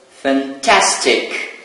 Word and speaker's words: fantastic: So, fantastic. It's in the first box. So, the stressed syllable is the second syllable.